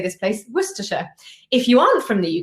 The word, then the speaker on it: Worcestershire: you're meant to say that worcestershire and not something along the lines of warcestershire or something else and this is really common so there are lots of words in street addresses that are not pronounced the way they look and that's complex so